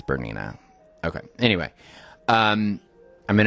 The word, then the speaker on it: Bernina: You know, it's Bernina.